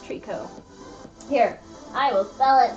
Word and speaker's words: tricot: you may have seen try cots but it's actually pronounced Treecko here I will sell it for ya Treecko you know just like taro you don't pronounce the T at the end okay yeah I was